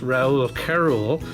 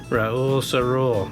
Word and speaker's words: Race-O-Rama: I used to always call this Raoul-Carol, and someone sent me a message and said, this is how you pronounce it, Raoul-Rama, with a S for the C sound.